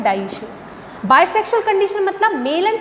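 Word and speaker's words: dioecious: Bisexual को अपन ये बोल सकते हैं मोनोशियस और यूनिसेक्सुअल को अपन डायोशियस भी बोल सकते हैं, डाइशियस जिसका प्रोनाउंसिएशन होता है डाइशियस।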